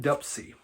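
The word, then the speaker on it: Dopsie: and D dupsy that's that's how he pronounces it so this album rock rock and dupsy looks like dsy but I believe they pronounced it dupsy if I remember right this was the very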